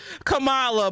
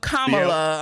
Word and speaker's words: Kamala: know exactly you know when we see her name we say Kamala but Kamala I'm trying to say say her name right I do like that